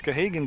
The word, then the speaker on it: Gahagan: I know it's not Gahandy, it's Gahagan got it.